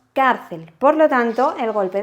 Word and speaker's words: cárcel: Al hacer el golpe de voz no decimos carcel, decimos cárcel.